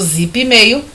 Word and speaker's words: Zipmail: Esse P do Zipmail é mudo.